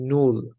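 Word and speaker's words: null: প্রথমে আসে শূন্য বা জিরো, যেটাকে জার্মানিতে বলা হয় নুল। আপনাদের বোঝার সুবিধার্থে উচ্চারণ বাংলাতে লিখে দিছি এখানে সাইডে।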